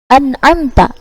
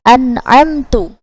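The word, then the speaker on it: أَنْعَمْتَ: Contohnya pada lafaz an'amta, akan tetapi dibacanya dengan an'amtu.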